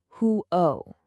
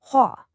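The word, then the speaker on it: 火: It looks like hu-o, right? But the sound is way different. It's more like hua.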